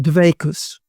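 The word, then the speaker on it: דביקות: He loved to quote the phrase that one in Judaism tried to go from kavana to dveikus. I purposely use the Ashkenazi pronunciation, namely from religious awareness and concentration to a clinging to God.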